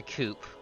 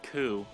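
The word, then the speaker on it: coup: a coop or something what do you mean there's a coop it's pronounced ku akuma actually i come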